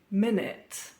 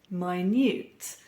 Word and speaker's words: minute: others they're completely different think minute a period of 60 seconds and minute the adjective meaning extremely small today we're going to